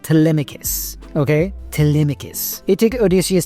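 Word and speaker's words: Telemachus: Okay, I'm not going to spell it cuz I can't spell it for but it's pronounced Tmicus.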